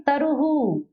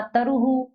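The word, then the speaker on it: तरुः: अब यहाँ पेड़ का चित्र है, पेड़ को संस्कृत में कहते हैं तरुहु। विसर्ग कहाँ है, मात्रा के बड़ा ऊ की मात्रा के बाद, तो हु उच्चारण हुआ, तरुहु।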